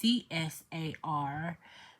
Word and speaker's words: tsar: So in this book, it's Tsar, but it can also be pronounced Csar, thanks to a teacher that we do watch for homeschooling as well, Mr.